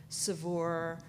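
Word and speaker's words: Saveur: we're gonna be launching savour cookware sorry okay forgive me for being producers right as they say at the office it rounds it rhymes with cat fur helps a lot there's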